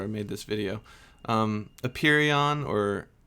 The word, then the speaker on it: apeiron: called it the i don't know how to pronounce it i should have looked that up before i made this video um a perion or a pyron or a peron it's a-p-e-i-r-o-n that was his name for infinity